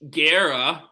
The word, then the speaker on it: Guerra: So, moving on, we have Mitch Guerra. is how I'm gonna pronounce his last That's name.